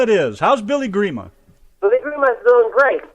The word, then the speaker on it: Grima: in Canada we call agreement all right prima Grima it is how's Billy Grima believe we must feel great relaxing uh just